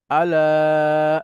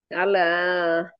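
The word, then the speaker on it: أَلَا: এরপরে একটা পার্টিকেল আলা আলা এভাবে পড়তে হবে ম্যাডাম উচ্চারণ করেন আলা লাতে টান হবে হ্যাঁ আলা এটা হচ্ছে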